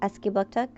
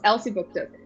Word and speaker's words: Elsipogtog: Okay, did I say it correctly? Elsipogtog? Close. Elsipogtog. Booktok.